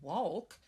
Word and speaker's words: walk: It's a silent letter. That's right. We don't say walk. I'm going to go for a nice walk.